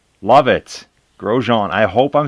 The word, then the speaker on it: Grosjean: On screen right now we have, and I kept saying the name wrong, but I got a little tip. It's Grosjean. Love it. Grosjean.